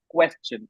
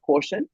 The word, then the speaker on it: question: The right pronunciation is question and not quotient. So it is question. Like you have to enunciate your vowel. Like it have to twist your tongue.